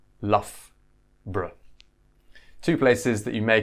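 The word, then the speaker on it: Loughborough: put these two together the O isn't pronounced in the middle there so it's love bra love bra to places that you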